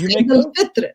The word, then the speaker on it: Eid al-Fitr: So yes, Eid al-Fitr is the right word, right pronunciation, and it is called the meaning of it.